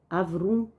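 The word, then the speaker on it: ערום: O termo hebraico, Arum, tá aqui as letrinhas hebraicas, mas como eu não sei muito, transliterando Arum, e pode ser pronunciado como Avrum.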